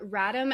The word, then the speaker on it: Radim: We have Radim, as in Adam, Malinic.